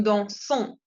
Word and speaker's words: dansons: Entonces, la ONS se pronuncia on, nous dansons.